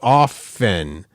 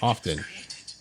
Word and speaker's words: often: How about often? The T is silent. It's not often.